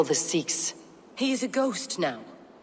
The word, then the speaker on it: Seax: I'll say Seax because that's how Eivor's pronouncing it, even though I've always thought it was Sax, but anyway.